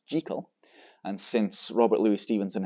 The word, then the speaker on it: Jekyll: the pronunciation well in Scotland the surname is pronounced jekal and since Robert Louis Stevenson himself and I